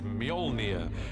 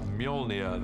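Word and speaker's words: Mjölnir: is to work out how to pronounce it which is mjolnir uh in our movie at the moment until somebody corrects me i'm sure they will uh mjolnir the hammer this awesome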